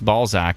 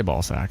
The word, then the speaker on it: Balzac: Brandy says, well, you did pronounce Balzac and didn't say Balzac, so that's true.